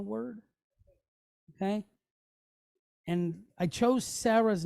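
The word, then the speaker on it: שָׂרָה: Sarah. Right? Sarah, Abraham's wife. All right. So when we pronounce the A, it's like the sound that we get in the word aqua.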